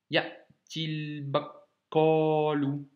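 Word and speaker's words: يأتي البقال: Quand on doit lire les deux d'affilée, ça fera yatil bakalu. Tu vois, j'ai fait la liaison. Ici, j'ai fait il et pas i al. J'ai fait il directement. Donc le i long devient entre guillemets un i court et qui s'accroche ici.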